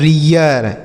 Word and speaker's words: rear: यह लिखा है रियर, इसे रीर नहीं पढ़ेंगे, रियर। अगर यहीं पर टी लिख दिया होता तो हम इसे रीट पढ़ते, लेकिन यहाँ पर आर आने की वजह से इसका उच्चारण हो गया रियर।